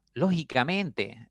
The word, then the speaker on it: lógicamente: explíquemelo Okay lógicamente no lógicamente a veces pronunciamos esa palabra Sí entonces lógicamente si ustedes analizan tiene eh cinco sílabas y la mayor fuerza está en la quinta sílaba listo quinta sílaba no